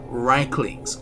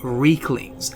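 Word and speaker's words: Riekling: link these spears to the infamous Reichlings or Reeklings, as both pronunciations are used within the game. Therefore, both pronunciations are acceptable.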